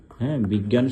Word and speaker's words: বিজ্ঞান: ধ্বনিটা উচ্চারিত হতে পারে যেমন আমি যদি বলি বিজ্ঞান ঠিক আছে্যা বিজ্ঞান শব্দটা যদি আমরা উচ্চারণ করি তাহলে কি হয় বিগ্যা তারপরে এই যে জ্ঞান ঠিক আছে এভাবে হতে পারে অথবা বিজ্ঞান ডবল গয়েও কিন্তু করতে পারি আমরা বিগ তারপরে গান বিজ্ঞান ঠিক আছে বিজ্ঞান অথবা বিজ্ঞান